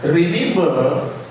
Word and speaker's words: remember: remember tulisannya ra ya eh re bacanya ri remember the sabat day